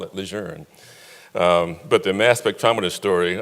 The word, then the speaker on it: Lejeune: this area three at campus units via camp adjourned as they pronounce it now so I got it used